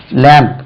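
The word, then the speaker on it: lamb: இது சும்மா தமிழ்ல எழுதுனேன் லேம்ப் பி போடக்கூடாது லேம்ப் இல்ல லேம்ப் லேம்ப் ஆட்டுக்குட்டி லேம்ப் இது லேம்ப் பா சொல்லக்கூடாது ரைட் இது லேம்ப்ல உண்டு லேம்ப்னா தீபம் அல்லது விளக்கு லேம்ப்னா ஆட்டுக்குட்டி லேம்புக்கு பி உச்சரிக்கக்கூடாது அதே மாதிரி டம் என்று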